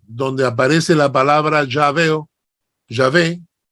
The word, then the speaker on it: Yahvé: Sí claro Ah okay sino que nosotros en español la W la pronunciamos B decimos yah no y